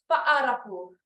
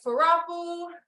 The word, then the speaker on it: Fa'arapu: To pronounce the word, it is Fa'arapu, Fa'arapu. So not Farapu, Farapu, Fa'a. You gotta hit the apostrophe, which in Tahitian it's called your eta. It breaks those two letters, A'a, Fa'a.